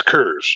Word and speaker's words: Coors: It's Coors. It's how it's pronounced.